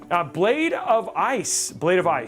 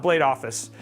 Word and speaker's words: Blade of Ice: Blade of Ice, not Blade Office.